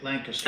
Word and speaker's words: Lancaster: Lancaster.